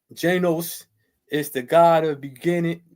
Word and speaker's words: Janus: Janus, pronounced Janos, is the god of beginning.